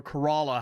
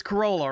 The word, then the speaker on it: Corolla: outer banks we actually stayed in corolla or kerala however you want to pronounce these stupid names it's corolla right it's the toyota corolla this is the corolla north carolina that's where we're at